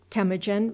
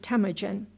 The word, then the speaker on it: Temujin: So he named him Temujin.[B] His birth took place, as nearly as can now be ascertained, in the year of our Lord 1163. [Footnote B: The name is intended to be pronounced _Tim-oo-zhin_.] Such were the circumstances